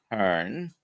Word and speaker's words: Hurn: So today we're going to be talking to Hurn. Hope I'm pronouncing that correctly. That's correct. Yes, sir.